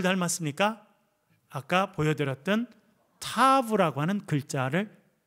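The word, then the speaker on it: תו: 타우는 타브라고 하는 것, 어떻게 발음하기, 원래는 타브인데 우리는 타우로 많이 합니다.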